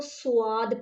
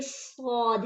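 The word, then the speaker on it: صاد: सबसे पहले तो अक्सर लोग इसको स्वाद पढ़ते हैं, ये स्वाद नहीं है, इस चीज़ को अच्छे से समझ लें। ये सौद है, सौद, ये सौद, सौद अलीफ दाल, सौद है।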